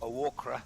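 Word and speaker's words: Oakura: Quite good that, some of those smaller clubs like, well, it's locally pronounced Awakra, isn't it?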